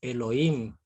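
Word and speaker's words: אֱלֹהִים: perdón no el Dios viene de Elohim H después de la O Elohim así aparece en hebreo Elohim y Elohim era una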